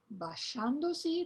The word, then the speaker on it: basciandosi: And it's spelled with the group SCI, as in the word basciandosi, that comes from a madrigal. Basciandosi, as in English, she.